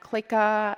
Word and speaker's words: CLIKA: And CLIKA is Hebrew pronunciation of click, a set of different dots that make a group.